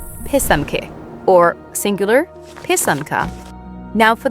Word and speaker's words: pysanky: It's pysanky, not pysayinky.